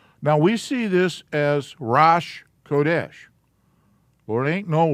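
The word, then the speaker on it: ראש: This is a syllable, row. This is just a space holder. And it's grammar rules force it to be there. And then this is the sh. So the word is Rosh.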